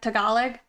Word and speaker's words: Tagalog: Oh, final G on the Tagalog. So you don't say it at all.